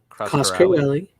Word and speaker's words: Coscarelli: The color correction supervised and approved by director Don Coscarelli.